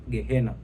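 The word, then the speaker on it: Gehenna: Kwa maana hiyo neno bonde la mwana wa Hinom linapotamkwa katika kiania linatamkwa Gehinom. Lakini katika kiyunani linatamkwa gehena.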